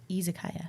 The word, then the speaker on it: Izakaya: And Gun, Izakaya. Yep. Am I pronouncing that right? Izakaya. Izakaya.